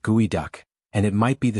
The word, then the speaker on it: geoduck: It's the geoduck clam, pronounced gooey duck.